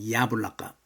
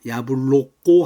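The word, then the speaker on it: яблоко: 야블라까 우달레니가 엑센트가 야야 있기 때문에 야블라까가 됩니다. 야불로꼬 하면 안 됩니다. 야블라까 야블라까 사과입니다.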